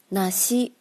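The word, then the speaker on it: なし: 种梨树，因为梨在日语的发音是那西那西，就是没有或者失去的意思，也是因为谐音而感觉到不吉利，其实梨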